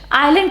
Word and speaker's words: island: Or subtle, or island. Island could have been Island or Iceland, but no, it is island. What is the need of S?